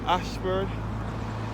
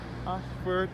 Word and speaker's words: Ayshford: poly innocent church and school area situated at Ashford in St Thomas and about to Ashford